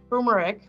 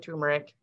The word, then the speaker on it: turmeric: is a base of curry powder however too tumeric i always say it wrong only works if